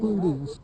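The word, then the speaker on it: Pluteus: Plutus, P-L-U-T-E-U-S, cervinus, C-E-R-V-I-N.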